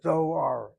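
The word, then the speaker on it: דואר: Door is not the same as doar.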